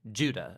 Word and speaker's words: Judah: Jude or more accurately Judah according to the pronunciation of his name both in Greek and in Hebrew Judah was one of